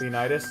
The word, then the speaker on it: Leonidas: Leo need us I don't know how to pronounce that Leonidas Leonidas thank you he's in fate go though that's